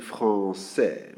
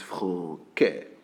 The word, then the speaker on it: français: It is the one you have in français. Remember? That one of the first words you learn. Français. Okay? If we don't have this word, this little hook, the pronunciation is different. It is franquais.